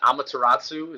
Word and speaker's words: Amaterasu: Is it Amaterasu?